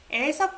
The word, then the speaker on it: 의: You don't pronounce it as 의. It's 에.